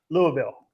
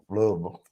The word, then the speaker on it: Louisville: Louisville. I have. But no. She said you have to say it like that. Louisville. Louisville. Louisville. Louisville. Louisville. You keep saying Ville. It's Vol. Louisville. Vol.